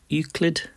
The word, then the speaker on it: Euclid: Is it Euclid? Is that how you say it, Yvonne? Euclid? Is correct.